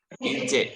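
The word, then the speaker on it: ince: Nah, jadi ada yang huruf vokalnya itu ada yang tebal, ada yang inje. Ada yang inje. Inje ini yang tipis. Inje, bacanya inje, tulisannya inje, tapi di ini alfabet Turki inje Ibu.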